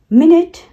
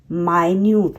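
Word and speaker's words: minute: same है लेकिन उसे दोनों अलग-अलग तरीके से प्रोनाउंस कैसे करते हैं विंड मतलब हवा वाइन मतलब रप अप करना मिनट मिनट एंड माइन्यूट मतलब कुछ बहुत टाइनी चीज जो होती है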